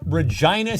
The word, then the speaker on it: Regina: Regina, Saskatchewan. Yes, we rhyme with vagina.